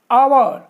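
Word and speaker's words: hour: यहां पर देखिए यहां पर है आवर, तो आवर, अब यहां एच तो बिल्कुल साइलेंट है, तो ये काई की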